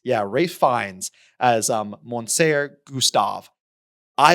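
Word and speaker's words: Ralph Fiennes: one of my favorite actors and I always mispronounce his name. Ray Fines. Rafe Fines. Yeah, Rafe Fines as um, Monser Gustav.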